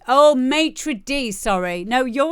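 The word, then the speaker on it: maître d': It's pronounced maitre d. Oh, maitre d.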